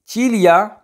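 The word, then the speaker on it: ciglia: ठीक है, आगे चीलिया पलके, इसमें भी जी साइलेंट है।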